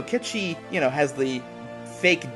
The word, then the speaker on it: Cait Sith: Sith or akechi rather I always see Cait Sith or whatever that's how it's spelt but no kid she you know has the